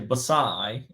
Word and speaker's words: Versailles: touch on and um I said how would you pronounce this word and I said v-e-r-s-a-i-l-l-e-s and he said well you know I would say basai and I'm like yeah I mean that's not that's not what we say here and he goes